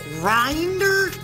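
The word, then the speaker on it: Grindr: that app pronounced right it's with a G it's grinder remember where we met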